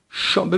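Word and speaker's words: chambre: دقیقا همین اتفاق میفته شامب ببینید در کلمه اتاق ائم به دنبال هم هستند پس میشه شامب شامب به معنی اتاق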